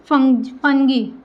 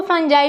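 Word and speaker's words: fungi: था पांचवा kingdom classification फंगी जिसको फंजाई भी बोलते हैं। ठीक है? अपना-अपना प्रोनाउंसिएशन है। फंगी भी बोल सकते हैं और फंजाई भी बोल सकते हैं।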